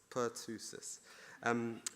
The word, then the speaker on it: Pertussis: it says Pertussis, is that right, the right pronounce? - Whooping cough. - Which is whooping cough, which I didn't know. So Pertussis, Per-tu-sis.